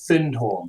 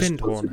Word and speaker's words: Findhorn: Aetherius Society was a community in Scotland called Findhorn.